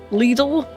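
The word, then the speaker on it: Lidl: Little.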